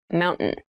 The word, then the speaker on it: mountain: top keep in mind when you pronounce this word in fast speech it sounds like mountain the t sound is reduced the little town was